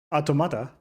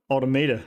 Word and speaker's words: Automata: Automata. Oh, that's how it's pronounced. Automata. I thought it was automator, but okay.